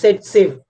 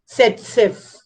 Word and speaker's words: Zaitsev: It pronunciation is like this, Satsev, and it can be pronounced like this, Setsev.